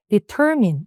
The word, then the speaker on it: determine: 이게 그냥 파닉스 그대로 디털마인이라고 많이 읽으시는데 일단 강세가 요게 있습니다. 그래서 발음 determine 읽으시면 돼요.